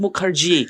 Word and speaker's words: Mukherjee: yaitu adalah Lina Mukerji kita bacanya harus Mukerji artinya orang apa salah